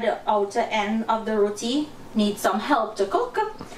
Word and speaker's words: roti: out it's perfect oh roadie dahi booty so someone commented natasha you need to teach him it's not roadie it's roti roti roti yeah do i